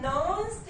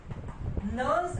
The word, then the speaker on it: Nernst: है जिसको बोलते हैं नर्न्स्ट इक्वेशन। नर्न्स्ट, अब नर्नस्ट मत बोलने से नर्न्स्ट, बीच में एन की प्रोनाउंसिएशन आती है, कहीं करते होते हैं नर्नस्ट, नर्न्स्ट इक्वेशन।